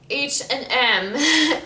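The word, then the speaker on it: H&M: m h m um we say the french way i at least say in the french way i say ashen m it's very hard for me to say h and m it takes so much effort for me to say it that way so every time i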